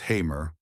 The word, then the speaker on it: Hamer: Born Francis Augustus Hamer, pronounced Hamer, on March 17, 1884, in Fairview, Texas, he was the son of Franklin Augustus and Lou Emma Francis Hamer.